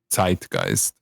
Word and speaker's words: Zeitgeist: has like it has like a more sharp Z, so it's Zeitgeist.